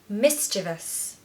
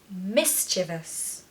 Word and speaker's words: mischievous: feel confident when you say thorough number nine mischievous mischievous mischievous a lot of people really can't pronounce this word I hear all kinds of